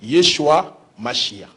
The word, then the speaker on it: Yeshua: point monsieur les journalistes, dans le monde entier la seule langue qui a gardé la vraie prononciation c'est à lingala. Parce que lingala on l'appelle Yesu Massia. Donc lorsque vous ajoutez entre Yesu Massia H a donc vous allez lire Yeshua Masia.